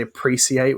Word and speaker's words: appreciate: So we don't say appreciate, we say appreciate, like it's SH.